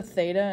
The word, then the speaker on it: theta: and it is a greek symbol it's actually pronounced theta and we use just a theta instead of like an x or a y